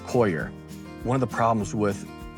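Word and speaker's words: coir: noer or excuse me, koyer or core or qua, however you want to pronounce it. According to Google, it's koyer.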